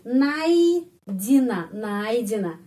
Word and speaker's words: найдена: Huruf i sebelumnya ada huruf vokal. Kalau a, i, ai. Kalau a, o, i, oi. Kalau ye, i, yei ya. Jadi найдена. Penekanan pada huruf a. Karena itu huruf y ini pengucapannya i, найдена.